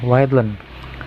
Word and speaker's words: readln: Nah, berarti kita memberikan di atas atau di perintah awal itu ln atau line disingkat. Jadi dibacanya readlen.